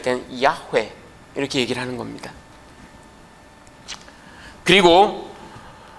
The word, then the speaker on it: 야훼: 여러분, 저 하야 동사가 3인칭 단수가 되면 야훼 이렇게 발음이 됩니다.